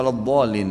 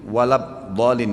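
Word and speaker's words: وَلَا الضَّالِّينَ: ketika salat berjamaah mendengar imam membacanya walad dolin walabdin dibaca ya sedang dalam Quran saya lihat tidak ada huruf ba bagaimana solusinya ya yang saya tahu tetap dibaca d ya waladin nya.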